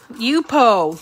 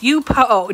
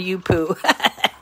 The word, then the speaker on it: Yupo: say it wrong but it's called you poo yupo yup oh not you poo yupo paper and it's